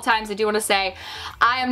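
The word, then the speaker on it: Saie: This is, I believe, pronounced Say.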